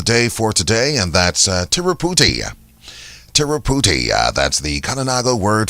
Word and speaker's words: Tiruputi: Just before we do so, would like to remind you of your Kalinago word of the day for today, and that's Tiruputi.